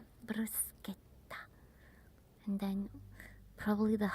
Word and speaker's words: bruschetta: the interviewers asked them the correct pronunciation of certain Italian food like bruseta that people call bruschetta but it's bruseta gh in Italian is like a k bruseta and And probably the hardest is the sound.